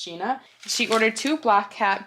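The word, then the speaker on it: Gjeana: I feel like that would be pronounced Gina.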